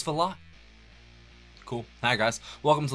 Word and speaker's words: Valotte: how to pronounce this cuz I totally was going to say vade but it's vot cool hi guys welcome